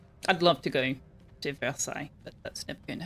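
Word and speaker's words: Versailles: furniture and clothing I'd love to go to Versai but that's never going to happen I pronounced it perfectly both times yeah I've practice with that particular word.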